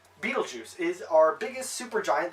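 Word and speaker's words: Betelgeuse: giant fun fact is Beetle chw not as in like the movie but there's a star it's spelled b e t e l g e u s e Beetlejuice is our biggest super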